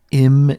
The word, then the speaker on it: im: Our next prefix, if you just look at it as a standalone, you might pronounce this I'm. I'm. But as a prefix, it is pronounced im.